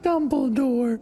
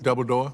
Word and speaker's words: Dumbledore: in The Lego Movie it's pronounced Dumbledore double door no Dumbledore the change from 2004